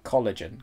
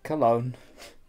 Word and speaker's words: Cologne: game again uh yeah yeah yeah we were pronouncing it as just going like uh collagen collagen case and you use those collagen but no it's cologne yep i never read that word i just